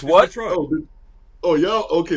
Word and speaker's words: Detroit: Detroit. Oh, y'all. Okay, that's the way y'all say it. It's Detroit. It's not Detroit. It's Detroit. Not Detroit.